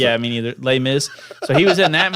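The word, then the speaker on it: Les Mis: like that lay Miss just say lay Miz no one knows how to pronounce it yeah me neither lay Miz so he was in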